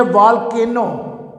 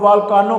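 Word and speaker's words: volcano: तो first word है ओशन, समुंदर, और ये है वॉल्केनो। ये व्यूज़ प्लीज़ इसका प्रोनाउंसिएशन गौर से समझें और सुने। ये इसको बेशुमार लोग वॉल्कानो कहते हैं। Correct pronunciation is वॉल्केनो, वॉल्केनो, आतिशफशां पहाड़।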